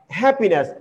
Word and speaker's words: happiness: Next, happiness. So here stress falls on the first syllable, not happiness. You will stress this one, happiness. Okay, then the stress falls on the second. You will say it as happiness. So then the stress falls on the third syllable, which is totally wrong. So you should come to know that here stress falls on the first syllable, happiness, happiness.